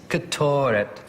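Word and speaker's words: קטורת: C'est bien, mais l'appui se trouve sur la seconde syllabe ici. Ketoret.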